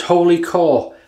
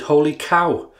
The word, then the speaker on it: Wholly Kaw: thank you chris and this is holy core but i think people are saying you pronounce it holy cow apparently so we'll go with that today and if i'm wrong